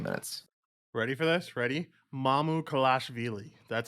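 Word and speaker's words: Mamukelashvili: also played 18 minutes ready for this ready mamu kalashvili that's how you say it i i've watched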